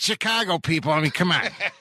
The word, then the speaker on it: Chicago: Well, there are a lot of locals that seem to think that it's supposed to be said Chicago. Chicago. Like a caw bird.